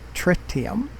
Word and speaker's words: tritium: 16,000 tons of tritium this is the way frontier says we should pronounce it tricked him so and it'll go